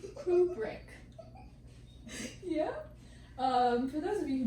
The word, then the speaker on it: Kubrick: Today I learned how to actually pronounce his last name. Kubrick.